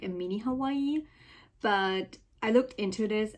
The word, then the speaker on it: Hawaii: I mean, literally my dream place is for sure Hawaii, or like how it's actually pronounced, Hawaii.